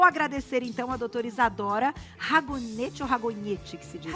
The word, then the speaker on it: Ragognete: Ragognete é o italiano, É o italiano, né? Eu sempre pergunto, então, eu gosto da pronúncia correta, então é o Ragognete, vamos dizer, né? @isadora.ragognete, como vocês estão vendo aí na tela, tem um G mudo.